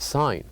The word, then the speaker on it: sign: this word the word sign and here we said that the word sign has one silent letter which is G so here in this